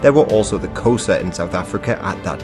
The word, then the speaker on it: Xhosa: Hence, Xhosa is usually pronounced something like Xhosa, but I think it's time to explain a bit about the African people and their kingdoms.